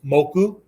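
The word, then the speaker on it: 木: Once we put that across, right, then it becomes moku, right? One pronunciation for it is moku.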